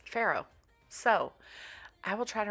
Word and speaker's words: farro: So I just Googled it, and I asked Google to tell me how to pronounce this word, and it's farro.